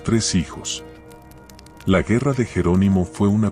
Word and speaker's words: Jerónimo: Se dice Jerónimo con el acento en la segunda sílaba.